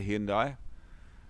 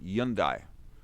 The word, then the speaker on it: Hyundai: do pronounce the h in korea they don't pronounce the h so it's it's you song you song and youndai is the h is not pronounced that is just a